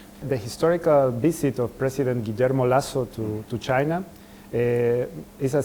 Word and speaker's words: Guillermo Lasso: would like to talk about the ecuadorian president guillermo lasso did i say it right yes yeah okay